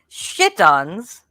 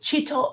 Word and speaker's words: chiton: Did you say chittons? Okay, I don't. Chiton. Okay, it's spelled Chiton.